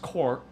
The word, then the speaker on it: corps: The drum corps, pronounced core, the drum corps is made up of snare drummers, tenor drummers, and bass drummers.